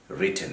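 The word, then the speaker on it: written: হবে, no, right, রোট, রিটেন, এখানে উচ্চারণগত একটা বিষয় আমি সবসময় বলি, এটা কিন্তু রাইটেন না, অনেকেই রাইটেন, বাইটেন, হাইডেন এভাবে বলেন, past participle, that's wrong, that has টু বি রিটেন।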